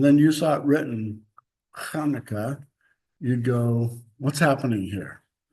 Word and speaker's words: Hanukkah: there because they emphasize Hanukkah. And they want to, what I read anyway, they put the two Ks in to emphasize the Ka, Hanukkah. And then the CH there is the Hanukkah.